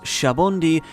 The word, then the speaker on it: Sabaody: The Sabaody Archipelago, written as Sabaodi from Portuguese sabão, soap, but pronounced as Sabaody from Old Spanish jabón, soap, which is